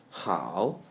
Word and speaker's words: 好: 好 very similar to the word how in the third tone.